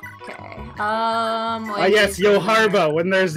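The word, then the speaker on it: Johalva: It enrages me on a very firm level that the guy named Yohalvier, or Yohalvalier, isn't the Cavalier. That's because that's not how you pronounce his name. Okay. Yes, Yoharva, when there's not a B.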